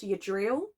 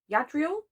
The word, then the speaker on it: Yadriel: I think it's pronounced yadriel yadriel I think it's yadriel who comes from a